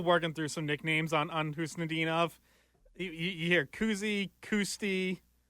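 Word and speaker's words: Khusnutdinov: I think we're still working through some nicknames on Husnudinov. You hear Kuzi, Kusti. Like, Pasta called him Kuzi. I thought he threw the T Which, in there. ironically, you don't pronounce the K in his name, so, either way, it's not the best, but...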